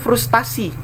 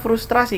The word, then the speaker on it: frustrasi: ada airnya disini panel yang bakunya adalah frustrasi kenapa Karena di bahasa Inggris penulisannya itu brush serai sense Hai jadi di sini ada er dan itu dibaca Bacanya adalah frustration karena dibaca frustration ada er disitu maka dipertahankan pula er jadi bahasa Indonesia jadi frustrasi cuman mungkin karena lidah kita yang sulit mengucapkan frustrasi ya pernah kita banyak yang